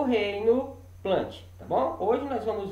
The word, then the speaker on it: Plantae: Nós vamos estudar o reino Fungi e o reino Plant, tá bom?